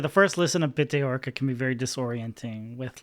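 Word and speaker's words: Bitte Orca: I think I only started getting into Dirty Projectors around like Bit Orca, is that how you say it? Orca, yeah. Bit Orca, which has aspects that are like jarring, you know, unsettling a little bit.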